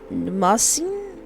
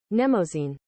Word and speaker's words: Mnemosyne: Editor, may please put up how I'm supposed to pronounce that. Mnemosyne.